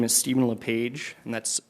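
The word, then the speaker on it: Lepage: chair Robinson Commissioners again my name is Steven leage and that's spelled l e p a g e and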